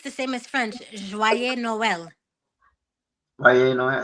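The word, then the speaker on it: Noël: yes I think it's the same as French Noel no say that again Noel Noel Noel yes yes Noel and is spelled j o y like joy and then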